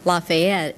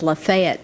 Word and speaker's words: Lafayette: even though Chairman Specter pronounced it Lafayette, where I'm from, it's Lafayette, Tennessee.